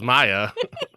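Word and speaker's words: Maja: How long did you call her Maha until you told me yesterday that it was Maya?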